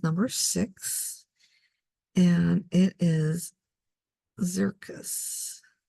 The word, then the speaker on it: Xircus: six and it is zircus is zentagle so spelled like circus a see but with an X all right and then